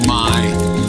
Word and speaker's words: Mai: This one's name is Mai, a monosyllable which, when pronounced with a long vowel in the low tone, means new.